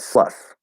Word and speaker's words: slough: which is weird um i pronounce that sluff so a sluffer sloth